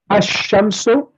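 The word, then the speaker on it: الشمس: Ash-shamsu, the lam becomes silent, and the letter after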